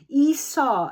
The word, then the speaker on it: Isa: Esau, it's pronounced as in ice.